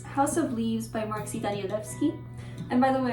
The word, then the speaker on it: Danielewski: And by the way, I'm not saying Danielewski instead of Danielowski in order to be pretentious. It's just my first language is Polish, and the moment I see this, I instantly pronounce it as Danielewski.